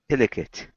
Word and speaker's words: delicate: Delicate, which is we have to move it to serve with the lift. Yes. And it will be on the D-E, delicate.